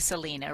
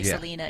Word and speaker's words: Selena: It's it's anglicized to Selena, right? Most people say Selena, even though the correct way would be Selena.